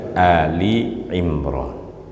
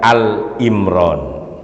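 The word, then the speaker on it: Āli ʿImrān: surah al-fatihah al-baqarah kemudian Ali Imron Saya ingin menekankan mohon maaf bacaannya atau cara bacanya Ali Imron bukan Al Imron orang sering salah baca Al Imron Kenapa karena sering baca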